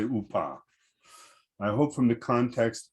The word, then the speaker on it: UPA: ukrainian insurgent army uh has its ukrainian initials as upa i say upah i hope from the